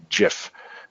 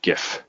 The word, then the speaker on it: GIF: or Linux yeah Linux it's Linux and Jiff not GIF anyway uh not start